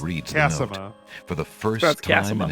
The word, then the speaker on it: Cassima: Actually, ma'am, it's pronounced Cassima.